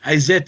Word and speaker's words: Isis: Isis, Hathor, whatever you want to say, Osiris, Wizard, which is the proper pronunciation. Izet is the proper pronunciation.